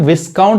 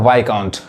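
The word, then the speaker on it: viscount: देखिए इसको क्या पढ़ेंगे इसको विस काउंट जैसे पढ़ेंगे गलत हो जाएगा यहां पे एस क्या है साइलेंट है यानी क्या पढ़ेगा वाई काउंट वाई काउंट मतलब क्या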